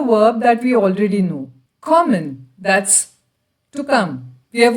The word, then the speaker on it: komme: So it becomes ich komme. I'll keep telling you about the pronunciations as we go along.